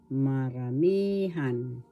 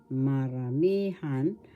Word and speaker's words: maramihan: syllable me syllable han the accent is in the third syllable marami maramihan maramihan that's plural and we